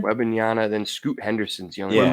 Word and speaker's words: Wembanyama: Wembanyama, then Scoot Henderson's young.